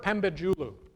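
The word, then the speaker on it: Pembecioğlu: Nilüfer Pembecioglu. It took me a year to learn how to say that, by the way. Pembecioglu.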